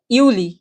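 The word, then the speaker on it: Juli: যেটা জুলাই মাস জুলাই মাসকে বলা হয় কি ইউলি ইউনি ইউলি জুলাই মাসকে বলা হয় ইউলি আর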